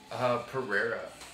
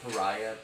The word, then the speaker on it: Pereira: Pereira. Everybody fucks it up. I get Pariah, Paria.